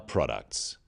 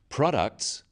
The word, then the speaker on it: products: In words, one syllable is stressed. The wrong stress makes it hard to understand. So, conclusion, not conclusion. Products, not products.